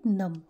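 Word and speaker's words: numb: fingers are getting नम देखिए हम जब लिखते हैं तो इसे नम लिखते हैं बट B will be silent तो इसे हम पढ़ेंगे नम ओके बहुत ठंड है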